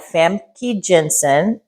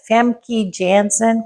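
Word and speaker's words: Famke Janssen: this movie also had other actors it had famy Jensen Jans famy Jansen can you pronounce her name Kim famy Jan I'll stop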